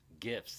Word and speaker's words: GIF: The guy who invented GIFs insists it's pronounced GIFs.